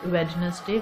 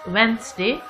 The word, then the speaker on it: Wednesday: Now some people pronounce it as Wednesday, which is wrong. The D sound is silent here and it's Wednesday.